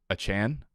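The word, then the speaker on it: Achane: takeaway here is that we've been saying Devon a Chain's wrong name wrong the entire summer so it's achan Devon achan is it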